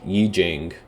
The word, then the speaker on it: Yi Jing: Wikipedia article would um I Ching that's what it was I don't even know if that's how it's pronounced Yi Jing that's what it is